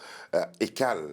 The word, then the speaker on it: Ekaly: On va recevoir dans quelques instants Ekal. Ekal, Ça ouais. s'écrit Ekali, mais on dit Ekal, On dit c'est ça? Ekal ou Ekali, ça dépend.